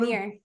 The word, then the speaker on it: Rainier: Rainier.